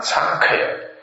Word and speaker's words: Sankhaya: This one is called Maha, M-A-H-A, Maha, Thanha, T-H-A, no, T-A-N-A, T-A-N-A, T-A-N-H-A, T-A-N-H-A, Thanha, Sankhaya, S-A-N-K-H-Y-A, Sutta, S-U-T-T-A. And this is Majjhima Nikaya number 38, Maha Thanha Sankhaya Sutta.